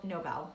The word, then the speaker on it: Nobel: Nobel Peace Prize right well Lud Ludwig no Nobel Nobel that's how you pronounce it love Ludwig Nobel he passed away